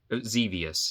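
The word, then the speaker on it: Xevious: different plug-in plays and zevious not zor zus uh so there's that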